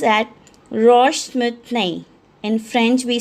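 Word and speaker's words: roche moutonnée: This is pronounced as Roche-Moutonne. In French we say as Roche-Moutonne.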